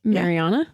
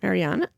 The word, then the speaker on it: Mariana: Mariana. Mariana.